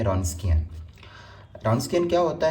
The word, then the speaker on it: Wronskian: अब इसमें जो डब्लू है वो साइलेंट है। तो आपने इसको प्रोनाउंस करना है रोंस्कियन।